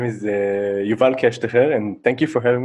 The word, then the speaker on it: Keshtcher: name and and so the name is Yvonne cash to hear and thank you for having me I must